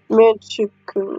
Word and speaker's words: Manchukuo: Manchukuo. Okay. That's pronouncing it right.